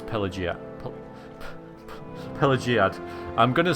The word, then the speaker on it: Pelagiad: and it's named after him so it's pelia pelagiad I'm going to say it wrong still I